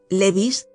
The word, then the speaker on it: Levis: En la tertulia de la señora T había algunas viejas nobles muy venerables, que se llamaban Matan, Noé, Levis, que se pronunciaba Levi, y Cambis, que se pronunciaba Cambises.